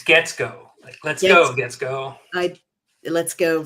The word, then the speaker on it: Guetzkow: I hope I pronounced your name correctly that time. If not, please correct me. It's Guetzkow.